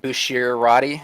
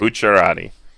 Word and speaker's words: Bucciarati: Moving on, 2 copies of Beginning of Fate, Bushirati. Am I pronouncing that right? Bucciarati.